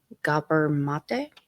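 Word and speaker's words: Gabor Maté: And this is actually knowledge from, I never know how to pronounce his name, so I'm sorry. Gabor Mate.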